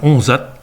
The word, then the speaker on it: Jonzac: Ainsi, la ville de Jonzac en français, qui va se dire Onzat, en chérantais et en saintongeais de manière générale, peut aller jusqu'à faire disparaître le J du début et faire Onzat.